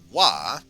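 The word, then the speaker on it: は: Ha, that we used for wa, you would pronounce as wa. This is probably the most common particle. It's really important to keep in mind that ha is only read as wa when it is in the particle, when it's read in its particle form.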